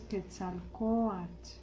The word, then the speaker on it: Quetzalcóatl: Por eso es mexica, por eso es Teotihuacán, por eso es Quetzalcóatl, Anáhuac. Todas las palabras en náhuatl son graves, el acento va en la penúltima sílaba.